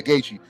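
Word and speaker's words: Gaethje: Gachi. Yeah. Gachi.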